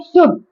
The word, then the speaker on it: should: नहीं प्रोनाउंस करना है इसमें जो एल है आपका फट होता है ठीक है प्रोनाउंस क्या करना है आपको शुड जैसे कुड जो होता है कु है ना उसको भी कुड नहीं बोलना आपको कुड वुड होता है उसको भी वुड नहीं वुड ओके इन तीनों में ही आपका जो एल है वो साइलेंट होता है शुड कुड वुड तो